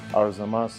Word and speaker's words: Arzamas: We are here in Russia in a city I cannot pronounce and a gym I also cannot pronounce. Arzamas City Arzamas City.